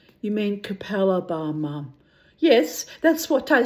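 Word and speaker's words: Capalaba: When we first came to Brisbane, my mother couldn't pronounce it either. She used to say to me, I'm going to Kalapa Bar. You mean Capella Bar, Mum?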